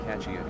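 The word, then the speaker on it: focaccia: For those unaware, the catchia is typically pronounced with a sha ending in my area.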